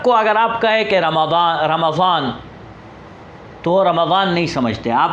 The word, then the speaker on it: رمضان: اس کی سپیلنگ بھی اگر آپ دیکھیں تو رمضان کی سپیلنگ RAMDAN، رمضان۔ تو اصل میں رمضان ضاد